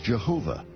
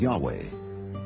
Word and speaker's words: Yahweh: Yahweh was named Jay because early European translators were ignorant of the correct pronunciation of Hebrew names many inadvertently referred to the name of God as Jehovah instead of Yahweh and ironically the name has stuck the author of those